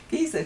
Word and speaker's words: Giza: Giza, not geezer.